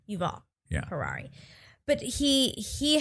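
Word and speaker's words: Yuval: so thank you for I say Y and I don't even try V I believe okay You' all yeah Ferrari but he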